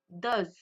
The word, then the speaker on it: does: Attention aussi à la prononciation. Dou does.